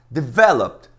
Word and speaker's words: develop: Mas a sílaba tônica não é a última. Abandon é a segunda.